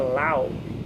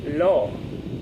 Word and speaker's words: law: Em inglês, eu falava la e é law, né? La lawyer. E então a gente vai aprendendo conforme a gente vai exercitando e trocando conhecimentos com as pessoas, né?